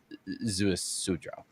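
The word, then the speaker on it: Ziusudra: I learned that the correct pronunciation of that is Zeus Sudra.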